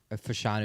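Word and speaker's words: Fashanu: Do you know how to pronounce Ole Fanu? Thank you. Uh, Olu, Fanu is how you say his last name.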